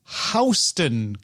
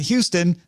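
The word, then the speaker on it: HSTN: Meta just launched the Oakley Meta Houston glasses, but it's spelled H-S-T-N. Not Houston, not Houston, but Houston, you know, like the place you go south of in New York City.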